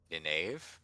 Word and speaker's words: Nynaeve: Nynaeve? Nynaeve. Nynaeve. Okay, we went through this last time. That's my pronunciation.